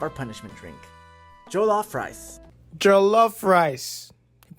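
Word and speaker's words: jollof: have to have our punishment drink joloff rice joloff rice you pronounced it well let's review this galof rice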